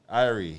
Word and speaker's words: Irie: Irie, yes.